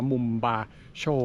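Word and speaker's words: Mombacho: ฉวย No is ไม่ ใช่ ปราสาท สเปน นะ จะ เป็น ภาษา ประสาน นาวา นะ ฮะ เป็น คน ที่ อาศัย อยู่ ที่ นี่ มา ก่อน แล้ว นะ ครับ ก็ เลย ออก เสียง ว่า มุม บาร์โชว์ นะ ฮะ คือ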